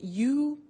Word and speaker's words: used: Now, this verb, used to, well, it's written U-S-E-D, but the pronunciation is used, and we'll see that on the screen later.